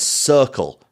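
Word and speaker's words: Cirkul: of water that I've been sipping on is circle but that's spelled c-i-r-k-u-l you may know it from Tick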